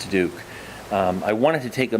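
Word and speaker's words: Diduch: Duke for the record my last name is spelled d-i-d-u-c-h and pronounced Duke I wanted to take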